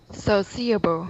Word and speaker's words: sociable: Sociable. Okay, right. You can have the CIA as one syllable only.